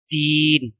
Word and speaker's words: دین: یہ لفظ ہے یتیموں، دین، دین میں دال کے نیچے زیر آئے گی اور نون کے اوپر جزم آئے گی۔ دم، دال کے اوپر